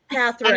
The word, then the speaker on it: Katharine: Catherine. And it happens every single freaking Catherine. time. So there's no L. There's no L in her name.